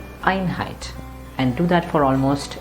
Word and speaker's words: Einheit: as I stressed that Ironhide never said plain and simple are in height like that no no no that doesn't sound good like at all although